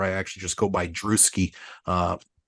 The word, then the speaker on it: Drewski: actually just go by druski uh it's a short for Andrews and we we all know how hard it is to say Andrews with the S uh but druski rhymes with bruski I have been slinging